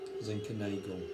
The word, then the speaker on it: Zinkernagel: Zinkernagel. Zinkernagel. Rhymes with bagel and Schlegel.